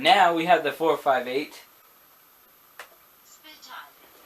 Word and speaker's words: Speciale: No, you're supposed to say it in Italian. So, no, we gotta switch it, right? Yes. Speciale. That's how you say it.